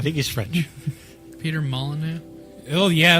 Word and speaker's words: Molyneux: my loop its monolith the X is silent it's like your rule oh Molyneux it's like your rule oh yeah Molineux okay well do you